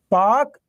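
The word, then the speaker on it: Palk: जल अ पाक जलसंधि ध्यान रखना पाक वो नहीं पीए के पाक पी ए एल के स्पेलिंग देखिए पाक पाक स्ट्रेट कहां पर इंडिया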